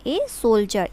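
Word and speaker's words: soldier: एंड अ सोल्जर, देखिए friends इसमें डी का यूज़ हुआ है लेकिन हम इसको जे से प्रोनाउंस करेंगे, इसको हम बोलेंगे ए सोल्जर।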